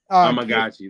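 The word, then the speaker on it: Amegadjie: we got Kira uh amaji right amagi like tamagachi y there we go um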